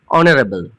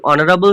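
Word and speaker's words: honourable: অনারেবল। এই অনারেবল শব্দটার প্রথম অক্ষর এইচ আছে কিন্তু উচ্চারণটা শুরু হচ্ছে।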